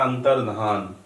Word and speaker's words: अंतर्धान: इसी तरह से अंतर्धान, बहुत इंपॉर्टेंट है, ठीक से देख लीजिएगा। ध्यान बोल देते हैं लेकिन होता है अंतर्धान होना।